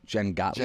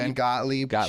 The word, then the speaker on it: Jen Gottlieb: How do you pronounce her last name? One of the speakers, Jen Gottlieb. Jen Gottlieb.